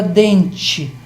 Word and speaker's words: dente: Se a palavra dente, você escreve com E no final, mas pronuncia como se fosse I.